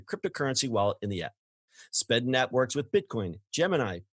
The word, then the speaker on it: Spedn: Flexa has established a network and launched an iOS wallet app called Spedn. It's Spedn. I swear I didn't mispronounce that.